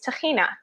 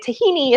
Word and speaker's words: tahina: So an example of that is tahina, which is how we say it in Hebrew, and tahini is how they say it in America.